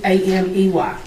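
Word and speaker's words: Amey: A M E Y.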